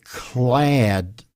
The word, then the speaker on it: clad: And first of all, phonetically, we would say clad. You know the word add, like addition? Clad, clad.